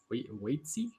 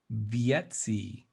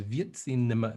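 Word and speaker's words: Wietse: I think his name is pronounced Vietsi Venema. Oh. Because if I'm not mistaken, Dutch pronounce W's as V, so it's Vietsi Venema.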